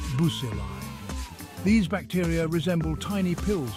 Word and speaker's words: bacilli: Next, we have the rod-shaped bacilli, pronounced bucilli.